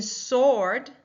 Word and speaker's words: sword: In sword, we do not hear that W that comes in the second wall. We just hear the sound.